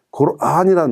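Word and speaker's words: قرآن: 이것을 꾸란이라고 사람들이 읽습니다. 그건 절대로 아닙니다. 코란입니다. 안에 장모음이 들어있습니다. 코란이란 말은 경이란 뜻입니다. 읽을 경, 불경, 성경 하는 것처럼 그 경을 지칭하는 말입니다. 근데 꾸란이라고 읽으면 그런 읽는다는 의미가 전혀 없어집니다. 그래서 절대로 되지 않습니다.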